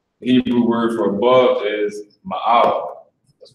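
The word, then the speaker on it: מעל: You got the Ma, the A, and the La. With the singular connector under the Ma, so you pronounce that as Ma, and the plural connector under the A and the La. So you pronounce that as A.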